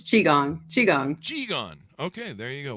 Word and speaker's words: Qigong: She has an eclectic background in project management, leadership development, improv comedy, and storytelling, along with, what is this, Qui-Gong? Do I pronounce that right? It's Qigong.